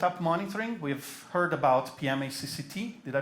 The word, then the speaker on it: pmacct: We've heard about PMACCT. Did I pronounce it correctly?